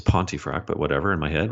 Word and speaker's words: Pontefract: cubicle he's like and he got my name pronunciation wrong he's like Pontefract and I was like okay it's Pontefract but whatever in my